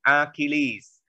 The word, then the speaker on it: Achilles: nhưng mà cái chữ này chúng ta phải đọc là Achilles.